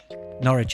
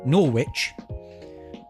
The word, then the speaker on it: Norwich: Lotus Factory oh good why is NCH pronounced without without the W sound nor Wich nor nor Wich no no um I